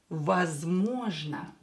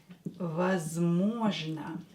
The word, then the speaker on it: возможно: A word with the same root is возможно. Возможно. Возможно. So we have можно here, we add was, and it is возможно. As always, O, when O is not stressed, pronounce it as A.